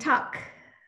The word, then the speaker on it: Tuck: And Tuck, did I say it right? Yeah, you said it perfectly, Christy.